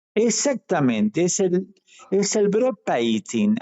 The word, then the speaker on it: bropiating: es el es el broad paising así se pronuncia exactamente qué tiene que